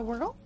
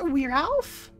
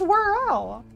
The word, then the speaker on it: Whirl: You've been pronouncing it as We Ralph? There's no F in there, Cherno. There's no F in there. It's Whirl. You know, like world, but whirling. Whirl. Like whirling up the tape.